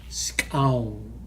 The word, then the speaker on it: skxawng: Scown. It's spelled SKXAWNG.